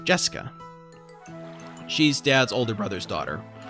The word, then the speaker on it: Jessica: of weird name anyway those kanji are pronounced jessica she's dad's older brother's